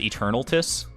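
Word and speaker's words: Eternatus: after i already start it's pronounced eternal tiss is it really i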